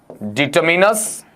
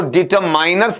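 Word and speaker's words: determiners: हम क्या पढ़ेंगे आपका डिटरमिनर्स डिटरमिनर्स यहां जरूर ध्यान दीजिएगा इसका उच्चारण है वह डिटर माइनस नहीं होता है बल्कि क्या होगा आपका डिटरमिन होगा और डिटरमिनर्स है इसका हिंदी अर्थ आप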